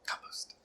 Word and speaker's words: compost: Compost. Compost. Yeah, pretty much. Or, as the British say, compost.